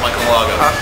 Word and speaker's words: Michael Aldo: Now, the big question everybody wants to know, you and Michael Aldo. Did I say it right? Yeah, Michael Aldo.